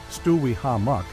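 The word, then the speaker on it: Stuwihamuk: The significance of the name Stewie Hammock pronounced Stewi Hammock and also recorded as Stewick and Stuichimok is not known.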